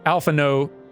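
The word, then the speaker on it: Alphinaud: official voice actors like alpha no is not pronounced with like the d at the end is silent the fact that some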